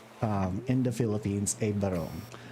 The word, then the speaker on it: barong: what we call um in the philippines a baron it's spelled as b-a-r-o-n-g um the n-g sound is